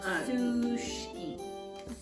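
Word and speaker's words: Сушки: Sushki. Sushki. Not sushi. Sushki.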